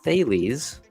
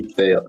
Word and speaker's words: Thales: The Greek philosopher Thales, I'm assuming that's how you pronounce it, is credited with using the first known option to reserve olive presses in anticipation of a large harvest.